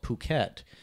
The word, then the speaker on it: Phuket: I think I think there's certain places in Thailand where P's and F's yeah are used a bit differently so there's a place called Phuket which is the proper